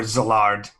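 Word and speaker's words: Szilard: is and that uh or zillard it's uh pronounced more with a z than an s um and she had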